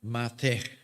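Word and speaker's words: מַטֶּה: Entonces, una de esas palabras lleva las vocales A, E y se pronuncia mate.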